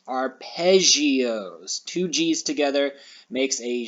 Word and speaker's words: arpeggio: pronounce how do we think that we would pronounce this word right here our pegios because of the two g's nope this is actually pronounced arpeggios two g's together makes a z sound arpeggios let's click on it and when it brings